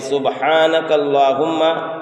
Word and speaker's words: سبحانک اللہم: سبحانک اللہم، سبحانک اللہم، اس کے پڑھنے میں بھی غلطی ہوتی ہے، یعنی سبحانک اللہم، یعنی ہا کو ظاہر نہیں کرتے ہیں، اور